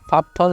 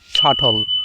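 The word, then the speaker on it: subtle: পরেরটা কি নট সাফথল এটা সাবঠল নয় এটার উচ্চারণটা হচ্ছে সাটল উচ্চারণটা কি সাটল তাহলে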